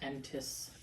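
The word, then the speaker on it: N'tss: It's pronounced Entis. Entis? Yeah. Okay. That's what the apostrophe is there for.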